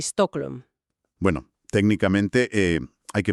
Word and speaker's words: Stockholm: Y la pronunciación aproximada sería John Bur y Stocklm.